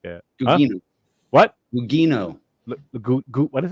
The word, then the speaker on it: Gugino: Carla Gugino. I'm gonna fuck her name up. Gugino or something like that. Gugino.